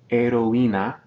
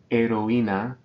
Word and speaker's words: heroína: Next, heroína, heroína, we're separating these, this vowel combination because of the written accent.